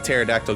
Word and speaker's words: pterodactyl: can't you hear a pterodactyl go to the bathroom i do not know because it's p is silent sorry i don't know